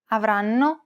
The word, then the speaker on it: avranno: In most Italian words, the stress falls on the second to last syllable, so you'll need to pronounce this a tiny bit longer and louder than the other syllables, but not by much.